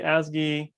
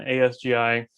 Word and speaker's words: ASGI: we pronounce it uh i will go with whiskey as gay uh sometimes i'll say wsgi and asgi i will use them interchangeably not the two terms